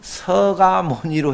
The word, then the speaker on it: 석가모니: 정근이나 축원 마칠 때에도 글자는 석 자지만 발음은 서가모니로 해달라고 요청을 하신 분들이 저한테 개별적으로